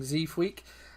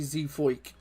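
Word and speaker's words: Zeefuik: have the Dutch guy I've been saying zeaf week apparently it's actually Z foik so we'll go with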